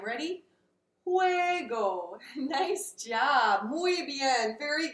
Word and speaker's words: juego: pronounced kind of like a soft H in English so try there with me say juego one more time ready juego nice job muy bien